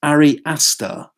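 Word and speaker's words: Ari Aster: and hereditary the filmmakers name is I got pronounces correctly as re aster AR I and the surname is a STR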